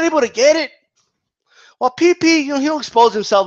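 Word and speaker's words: PeePee: By the way, it's P-E-E-P-E-E. Okay? So spell it right, guys. It's PP.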